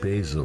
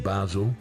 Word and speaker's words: Basel: I've never heard I have never heard Basil or Bal ever called Basil. No. Never. How do you pronounce it, Basel? Well, it depends. In Scotland, we call FC Basel.